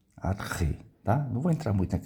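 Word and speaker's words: ἀρχή: Então, eh, eu gosto de falar arre, né? Porque é é a pronúncia, ele falou é é a pronúncia mais correta do que arquê.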